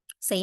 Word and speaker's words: ث: If you're going to connect the the tip of your tongue with the tip of the front two teeth to pronounce the sa, it's going to be more different from the seen.